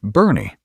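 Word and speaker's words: Boerne: That town is Bourne, pronounced Bernie, and it is quietly becoming one of the most sophisticated, well-equipped, and genuinely beautiful retirement destinations in the entire state of Texas.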